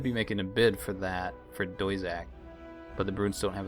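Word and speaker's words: Doisac: So it must be pronounced maybe Doizak? That's Doizak, the Jirlane homeworld planet.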